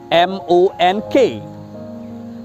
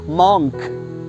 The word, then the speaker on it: monk: M-O-N-K. People often wrongly pronounce this word as monk, which is wrong. The correct pronunciation of this word is monk.